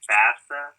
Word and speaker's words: FAFSA: So my next question is, what is the, am I saying it right, FAFSA?